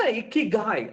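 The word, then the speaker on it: 生きがい: நீ இக்கிகாய் சொல்லும் பொழுது கண்டினியூஸா சிரித்து கொண்டிருக்க வேண்டும். அப்படி சிரித்து கொண்டு உன்னுடைய அந்த ஜோக்கர் கிரின் மாதிரி இழுத்து கொண்டிருக்கும் போது உன்னுடைய வார்த்தைகள் வந்தால்தான் இக்கிகாயை சரியாக சொன்னாய் என்ற அர்த்தம் அப்படிங்கிறாங்க.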